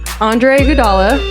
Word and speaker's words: Andre Iguodala: Vince Carter and Kent Bazemore and I'm very excited to say that the champion here right andre iguodala oh you say my name right white people